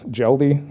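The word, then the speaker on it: Mjelde: The person that was taken into custody, last name is Jelde. It's spelled M-J-E-L-D-E.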